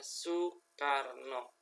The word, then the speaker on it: Soekarno: Indonesia adalah Bapak Insinyur Soekarno ya dibacanya Soekarno Insinyur Soekarno adalah tokoh